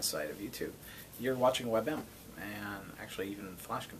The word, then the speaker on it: WebM: so webm or webm or how do you pronounce that it's webm web but it's also webp the single picture